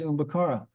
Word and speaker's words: Umakara: said my name is umakara I said well that's amazing umakara and I pronounced it said is that right he said yes umakara and um so then